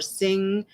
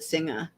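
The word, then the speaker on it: Singha: of Singa beer or sing they the company says that it's supposed to be pronounced sing uh s i n g h a but everyone calls it cinga and Carlsberg and Guinness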